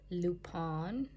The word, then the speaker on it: Lupin: show on Netflix called Lupin. Pronounced in French, but it's spelled L-U-P-I-N.